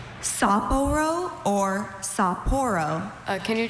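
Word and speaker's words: Sapporo: Uh, can are there any alternate pronunciations? Saporro or Saporro?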